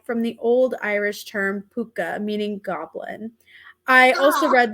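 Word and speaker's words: pooka: that's so cute and it's literally spelled like p-o-o-k-a puka oh yeah it's really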